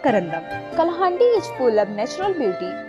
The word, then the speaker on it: Kalahandi: locally pronounced Kalahandi, is a district of Odisha.